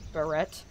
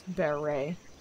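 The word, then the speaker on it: beret: of people would say barrette but again it's a French word and they don't pronounce usually don't pronounce consonants at the end of words so it's Bear ray I'm not getting the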